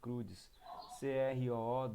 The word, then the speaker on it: Croods: É assim mesmo que se escreve, Crudes, Croods.